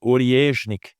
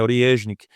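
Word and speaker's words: Орешник: a rúsia batizou de ornik e eu fiquei aqui treinando com o Google translat que é uma palavra russa eu não entendo nada de Russo mas parece que a pronúncia é essa né ornik e ele esse míssel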